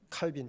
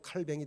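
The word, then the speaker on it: Calvin: 부착하면서부터 종교 개혁의 불꽃이 이제 당겨졌고 그래서 여러분들 잘 아는 장교 계통의에 칼빈 이제 우리는 이제 칼뱅이라고도 하고요. 이제 불로는 칼뱅이 되고 어 영어식발음으로 이제 캘빈이 됩니다.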